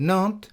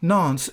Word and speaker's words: Nantes: The French at some time in the past dropped the pronunciation of the letter S. On examining the evidence, Nantes seems most likely to have been the original pronunciation of the name.